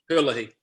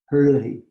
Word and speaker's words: Herlihy: Herlihy? How do you pronounce your? Perfectly. Herlihy. Herlihy.